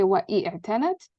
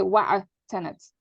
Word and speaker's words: وَاعْتَنَتْ: When you have that, you don't pronounce the e. You don't say wa'i'tanat. You just say wa'atanat.